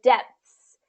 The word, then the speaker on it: depths: depth yes okay so this is very very tricky because there's three consonants right there in a row um and so yeah this is going to be tricky even for native speakers so depths so what we want